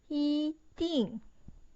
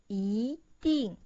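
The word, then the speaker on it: 一定: So when E meets fourth tone, that's the form. The first one, original pronunciation, is 一定. The sound is so bad. So it changed into 一定.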